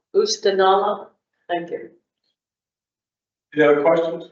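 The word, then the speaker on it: Oostanaula: And how do you pronounce that, river? Oostenaula. Oostenaula.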